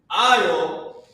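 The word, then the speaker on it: עַל: I'll. Who knows what I'll meant? Remember when you're walking down the aisle? That's how it's pronounced.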